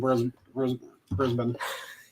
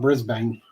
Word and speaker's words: Brisbane: Well, I'm trying to remember not to pronounce the A. I used to call it Brisbane, and then that was wrong. That was incorrect. I was corrected that.